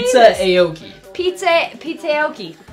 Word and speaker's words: Pizzaoki: Pizza Aoki. You have to say it like that really quick.